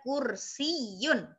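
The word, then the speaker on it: كرسيّ: Hada kursiyun ya, ada tasdidnya juga. Hada kursiyun. Nah, ini ada ya-nya itu ada tasdid ya.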